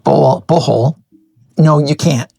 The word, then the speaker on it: Bohol: Okay, now, somebody asked me if you can surf in Bohol. Sorry, I didn't pronounce that right. Bohol.